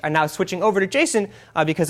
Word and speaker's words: JSON: to go over is Jason not JSON officially pronounced Jason and it stands for